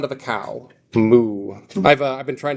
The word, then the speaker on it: mu: If you uh learned your letters from a fraternity, you probably learned that as mu, but it's actually pronounced moo.